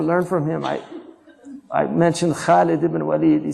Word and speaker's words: Khalid: You know, like say Khalid because don't say it like the Arabs say it now. Khalid. Say Khalid because it's harf mufakhama.